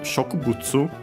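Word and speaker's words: 植物: Then we have Shokubutsu. A Chinese compound. Check its accent. Okay, this is one of those completely different ones, so be careful. The accent is on the ku.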